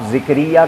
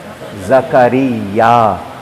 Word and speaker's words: زکریا: حضرت زکریا علیہ السلام، آپ زکریہ کہتے ہیں، قرآن نے جو لفظ بتا دیے ان کا ہم کو تلفظ، پروناؤنسیشن نہیں بدلنا چاہیے۔ لفظ کیا ہے؟ زکریا۔ یہ نبی کا نام